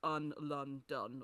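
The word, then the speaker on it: Un Lun Dun: that one novel um if it sounds like by the way we're saying on and then the name of the city London that is what it is but it's spelled un Lun done or with like a u as three distinct syllables um but it is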